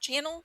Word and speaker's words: Channel: And I guess Bruce, is it pronounced Channel?